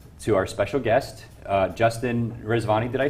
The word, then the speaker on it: Justin Rezvani: bring this over to our special guest uh Justin rizvani did I say your name right we've known